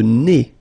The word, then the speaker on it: nez: Le nez. So remember, when you get this combination, E-Z, here, at the end of a word, it's E.